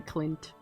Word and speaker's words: Clint: Got to make sure you pronounce the N in Clint.